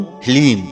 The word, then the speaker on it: ह्लीम: ओम ह्लीम। इसमें हा, ला और बड़ी ई की मात्रा और अंक की बिंदी। ह्लीम, यह है माता बगलामुखी का बीज मंत्र।